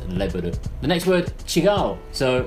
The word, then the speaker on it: レベル: So, level is just leburu.